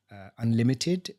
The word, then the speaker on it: UNLTD: got put in touch with Unlimited, which is spelled UNLTD, and it's the Foundation for Social Entrepreneurs.